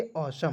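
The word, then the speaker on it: awesome: उसी प्रकार देखिए ए डब्ल्यू ई को पढ़ते हैं औ और एस ओ एम ई को पढ़ते हैं सम। तो क्या पढ़ेंगे? असम।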